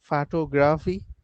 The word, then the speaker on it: photography: Photography, photography, tog. photography, That's it. So tog is that gets the emphasis.